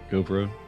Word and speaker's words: Gauvreau: I'm super excited to have Gauvreau. Did I pronounce that right? Close enough. Gauvreau.